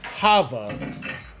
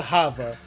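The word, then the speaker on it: Thava: The daughter's name was Hava. Hava, pronounced with the H, but it was spelled with the A, T-H. So it was T-H-A-V-A. But she was called Hava.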